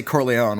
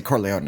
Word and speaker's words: Corleone: what country they're in in America they say Corleone when they go finally go to Sicily they say Corleone a yeah it is